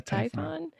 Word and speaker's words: Typhon: Well, the myth of Typhon, is that how you say it? Yeah, Typhon, where it's just like this big beast that's